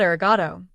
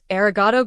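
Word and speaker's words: ありがとう: It's not arrogato. It's aragato goasu when you're being polite.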